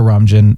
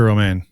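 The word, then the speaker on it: Romijn: and i love rebecca ramjin as number one i just love her in general i think she's awesome it's rebecca romain oh that's how you pronounce it i love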